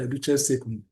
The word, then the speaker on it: duces tecum: That means that you need a subpoena duces tecum or some will say the key you know uh tecum but in Latin it's pronounced the duces uh duces tecum.